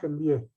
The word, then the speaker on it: MBA: an MBA why because when we pronounce the term MBA so the sound is of a see the sound is of a right MBA that is why